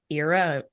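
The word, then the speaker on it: Eira: So I have really been enjoying the song Out of the Shadows by Ellie Ira, E-I-R-A is how you say their last name.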